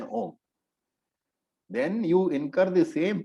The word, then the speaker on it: Om: students, advanced teachers also, saying Aum. Sampradaya says that that is absolutely wrong. And Sampradaya says something very interesting. He says, if you chant Om in this manner, Aum means you chant Om in any manner other than Om, then you incur the